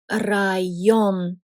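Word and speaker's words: район: Word with yo in the middle after a vowel is this one, rayon, which means area, like area where you live.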